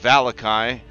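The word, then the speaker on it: Vallaki: They have arrived at the town of Valakai. That's right, that's how we pronounce it by game.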